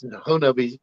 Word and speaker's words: Honobia: Did I pronounce Honobia right tonight? Yes, Honobia. That's how they pronounce it. Okay, and it's not spelled anything like that. No, Honobia doesn't spell Honobia in my book, but I'm pretty sure that's the Choctaw way.